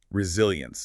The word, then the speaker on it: resilience: Let's spell it because the pronunciation can be tricky with those vowels. R E S I L I E N C E. Resilience.